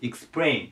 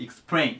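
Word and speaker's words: explain: 次がエクスプレイですエクスプレイあのアクセント後ろに行きますエクスプレイですねでこれ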